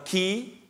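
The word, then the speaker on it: Χ: ada huruf x itu sebenarnya dua huruf Yunani ya Ki atau ke ya tulisannya X dan kemudian P itu bacanya Ro Jadi Q ro ada yang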